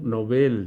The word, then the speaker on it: Nobel: economía pero es premio nobel noveles palabra aguda no es palabra grave aunque le pongan su tilde no vale porque originalmente en sueco esa palabra se maneja como aguda por favor tenga